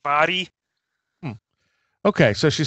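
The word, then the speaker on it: Mhairi: Yeah, it confuses a lot of people because it's spelled like M-H-A-I-R-I. And people right. think it's like Mahari or something, but it's pronounced like Vari.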